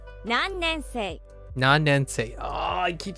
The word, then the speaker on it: 何年生: Nannensen. 何年生 Nannensei. Oh, I keep saying sen. Nannensei.